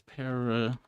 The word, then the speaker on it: pterodactyl: I have a suspicion that the silent P is purely due to English language influence, which also affects many other words that start with a PT.